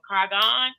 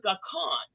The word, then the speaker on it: Garcon: Reginald Garcon. Did I say it right? Garcon, it's French.